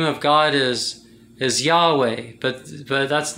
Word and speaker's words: Yahweh: yod che bao che the hebrew characters and they say pronounced together as a word it's yahweh that's what the most